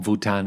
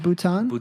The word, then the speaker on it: Bhutan: I mean, as you know, in Bhutan they have the country's index to happiness.